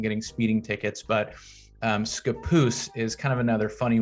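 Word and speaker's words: Scappoose: at least for now is skapoose a lot of people say scapus and this is also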